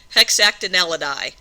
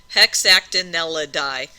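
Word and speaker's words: Hexactinellida: Hex act n l d or die like that. Hexactineladi. So if you break it up into individual syllables, it's not too bad. Hexactinelidi.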